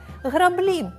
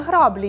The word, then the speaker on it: граблі: дачею тому нагадуємо що в слові граблі в українській наголос паде на другий склад граблі а не граблі як у рашистів приміром взяти граблі й